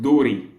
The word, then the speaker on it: Dori: My Generation in Arabic if I will pronounce it in Arabic because we don't uh we always roll the R so I I would pronounce it Dori but anyway it's not